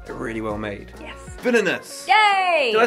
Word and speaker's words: Villainous: Villainous. Yay! Did I say it right? Yeah! You usually say vanillous, which is quite fun.